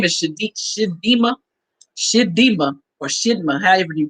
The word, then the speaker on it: Chidimma: But I pray that girl, her name is Shidima, or Shidma, however you pronounce it, at CHIDM. There you go, Shidima.